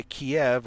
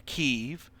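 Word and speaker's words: Kyiv: all the way to Kiev or Kev, however you want to pronounce it. And on the pronunciation, you're going to, you know, you hear people pronouncing it as Kiev and Keev. It's my understanding that Kiev is basically the birthplace of Russia. And as a big you to Russia, Ukraine renamed it Keev.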